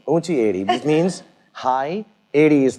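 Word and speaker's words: ऊँची एड़ी: Unchi edi. Unchi edi. Unchi edi, which means high, edi is the heel.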